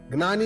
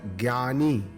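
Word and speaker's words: ज्ञानी: Gnani is pronounced as either gnani or jnani.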